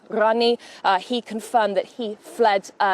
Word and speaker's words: Ghani: I spoke actually to an Afghanistan man this morning here in London, and he says that pronunciation for them is actually Rani, Ashraf Rani.